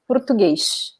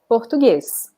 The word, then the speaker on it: Português: Sometimes in certain positions in the word, when we have the S in Portugal, people will say the sound as sh. So, for example, I think we have an example there, right? Portuguese, right? So they will pronounce it like this, Português, Português. So the S in the end will be pronounced like this sh sound. And in Brazil, in general, we say just the s sound.